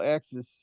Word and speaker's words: AXYZ: which model Axis machine do you have? They for those who don't know, they spell it AXYZ, and it's pronounced It's a. Axis.